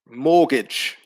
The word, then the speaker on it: mortgage: for number one indeed the silent letter is t mortgage is a pronunciation so there's no pronunciation of the t sound in number one uh for number two